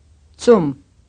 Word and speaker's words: Zum: We have the usual sound TS in words like cats. This is not unusual at the end of a word. It is much rarer at the beginning of a word or syllable.